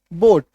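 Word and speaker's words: boat: है जसे ये देखो बी ओ ए टी बोट अब य पर देखो ए ना साइलेंट हो गया ए जो है ऑलमोस्ट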